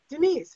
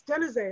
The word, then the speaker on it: Denise: what I was, and people would mispronounce my name and they would say, Denise, and I would say, no, it's Denise.